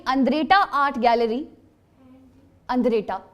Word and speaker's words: Andretta: द अंद्रेटा art gallery, अंद्रेटा ANDRETTA, and the Andretta Art Gallery has the paintings of किसकी?